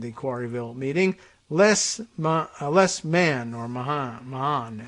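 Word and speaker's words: Mahan: Quarryville meeting less less man or Muhammad m-a-h-a-n usually I see pronounced man less man less man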